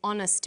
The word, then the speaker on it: honest: So we say a happy man, but an honest man. The H is not pronounced, so honest sounds like it starts with a vowel.